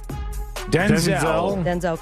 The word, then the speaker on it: Denzel: Rhymes with Wenzel. Denzel Curry.